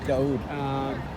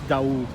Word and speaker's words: Daoud: Daoud. And in Arabic and Hebrew are like sister languages almost, right? Okay. So they're pronounced like probably almost the same. So it's Oh, not is that- David, it's Daoud.